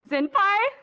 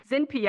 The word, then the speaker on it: ZinPie: I thought I spelled it as ZinPie. And I literally I called myself ZinPie for a while, and then somebody said ZinPia. I'm like, that's not my name.